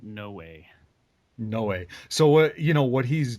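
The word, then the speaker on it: Noé: Noah. I heard him pronouncing it no way.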